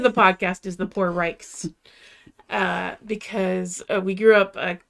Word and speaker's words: Reich: did not know that our actual pronunciation of our name was Reich, because I was born and raised to always think of it as Rich.